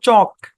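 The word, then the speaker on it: chalk: হাঁটা আচ্ছা তারপর দেখেন সি এইচ এল কে উচ্চারণ কি এল টা সাইলেন্ট উচ্চারণ হচ্ছে চক চক চক মানে কি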